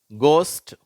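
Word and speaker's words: ghost: முதல் வார்த்தை அதிலிருந்து படிக்கிறேன் கோஸ்ட் லாப் காஃப் ரஃப் தோ இப்ப இதுல அந்த கோஸ்ட் என்ற வார்த்தையில க் அப்படிங்கிற உச்சரிப்பை பெறுகிறது ஜி ஹெச் சேரும்போது அடுத்த மூன்று வார்த்தைகள்ல ஜி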